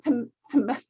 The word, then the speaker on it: Temecula: She lives in Temecula, California. Did I say that right? Yes. Temecula?